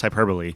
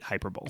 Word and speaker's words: hyperbole: a joke like it's it's pronounced hyperbole yes but people read it hyperbowl I've never heard that